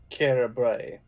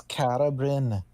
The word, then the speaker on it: Carabrin: And you, Carabray. It's Carabrin. Carabrin, apologies.